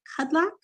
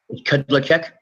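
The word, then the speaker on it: Kudláček: Before we get too far in depth, is it Kudlak? How do you say your name, sir? Kudlacek. Kudlacek. Okay.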